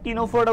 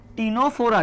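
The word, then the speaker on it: Ctenophora: ক্যাটে কি, ক্যাটে সিতে হচ্ছে কি সিওলোপ্লানা, এতে কি, এতে হচ্ছে অ্যানথ্রোজোয়া, আর টিতে কি বলতো, এই সিটা উচ্চারণ হয় না, টিনোফোরা উচ্চারণ হয়। কি উচ্চারণ হবে, টিনোফোরা।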